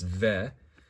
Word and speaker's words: Veh: So ve, you know, it's sort of, you know, I think fe is sometimes something you might hear in Yiddish, but this time it's ve.